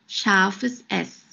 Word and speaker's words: scharfes S: SZ, or scharfes S. Scharfes S, which means a sharp S. This letter is pronounced like the double S in the word kiss.